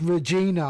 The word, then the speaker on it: Regina: Regina. It's Regina. I can't say that. I can't pronounce my R's properly.